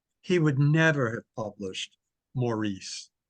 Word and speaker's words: Maurice: Uh, you know, it, while Forster's mother was alive, he would never have published Maurice or Morris Mm. as it's pronounced in England.